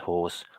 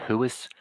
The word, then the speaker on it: whores: 30 pages of violence and whores. What more could you ask for? That's the spiel. It's Whores. whores. My Irish parents used to call them hooers. They couldn't say it properly.